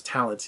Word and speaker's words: Thalente: it's really funny because his name is spelled funny and you know I was in my mind I had to relearn that he was name was Talent you know how you pronounced it so all right for